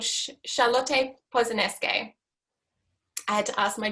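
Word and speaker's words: Charlotte Posenenske: So what I wanted to share with you is the work of a German minimalist artist called Charlotte Posaneske. I had to ask my German friend for that pronunciation.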